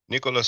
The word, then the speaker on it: Nicolas: Nicolas Sarkozy, we don't pronounce the S in French, but Nicolas Sarkozy to wear tag after losing corruption appeal.